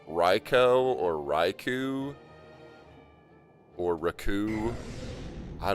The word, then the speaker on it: Raikou: Japanese Rai Thunder plus Ko Child. Thunder Child. Raikou.